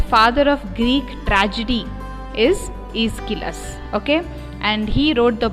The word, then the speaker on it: Aeschylus: How to pronounce that word? Aeschylus.